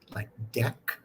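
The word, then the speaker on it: deque: I pronounce it DQ because that makes sense to me, double-ended Q. But a lot of people I know pronounce it like deck.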